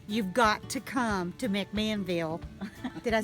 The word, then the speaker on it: McMinnville: You've got to come to McMinnville.